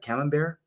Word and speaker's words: Camembert: And do you pronounce that camembert?